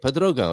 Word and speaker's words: Portugal: That's how you say it, Portugal. It's not that difficult, is it? Especially when you've there's two accents on it.